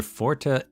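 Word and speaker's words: Forte: The Fortas, which I guess is actually just pronounced Fort, but that's kind of crazy, so I'm going to keep saying Forta.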